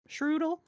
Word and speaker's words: Shroodle: Shroodle rhymes with noodle.